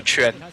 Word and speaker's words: Chun: Chun. Am I getting it right? Yeah, just remember like how you pronounce chin, and you have this like ch sound, right? It's like it's just that. So Chun, yeah.